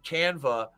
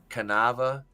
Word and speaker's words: Canva: put that together I made that image on canva I pronounced it right Draven I made that image on canva in like what did you used to call it canava oh my God you canava